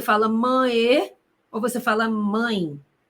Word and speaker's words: mãe: Você fala mãe ou você fala mãe? Você fala mãe. Então, perceba comigo como este E está representando o som do I.